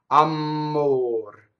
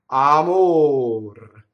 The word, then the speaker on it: amor: So often the mistake I hear is a double M. Amor. Did you see that? That was a double M. How did I make it a double M and it's wrong? How did I make it wrong? By I phonate on the M. Amor. Wrong in this case.